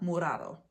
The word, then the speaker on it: morado: But when it's just one R, you say it like your regular R, morado, right? But if it was two R's, it'd be morado.